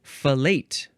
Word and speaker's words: fellate: Okay, so the next word, boom, boom, boom, boom, boom, it is fellate. Fellate. Or fellate. You can emphasize either syllable.